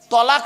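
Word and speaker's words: طلاق: ও বাবা, তালাক নয় শব্দটা, শব্দটা হবে তলাক।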